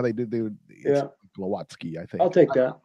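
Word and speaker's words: Głowacki: Glowacki, yeah.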